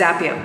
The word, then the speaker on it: Zapier: are in india so indians pronounce it at zephyr but if you are watching this international and if you are somebody not from india it's zapier right so however you pronounce